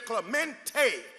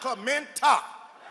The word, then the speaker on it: Clementa: He says, my name is Clemente, not Clementa.